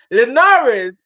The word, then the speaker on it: Linares: we got for this linares is the best fighter hold on let me just say it properly this is from william haley 9.99 dallas leonares is the best fighter